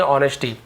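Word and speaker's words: honesty: हिस यानी उसकी ऑनेस्टी as silent होता है नेस्टी नहीं बोलेंगे ऑनेस्टी तो उसकी ईमानदारी को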